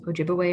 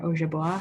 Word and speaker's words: Ojibwe: saskatchewan alberta and then ojibwe or ojaboa however you want to pronounce it people are known to